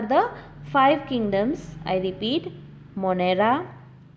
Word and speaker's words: Monera: So, the five kingdom classification includes Monera, Monera, Protista, Protista, fungi, Fungi, fungi.